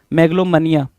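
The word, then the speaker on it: megalomania: 68 कह रहा है मेगलोमोनिया मेगोनिया है ना मैग्लोमोनिया मैग्लोमनिया बोलते हैं इसको मैगलमोनिया नहीं बोलो मैग्लोमोनिया बोलते हैं क्या बोलते हैं भाई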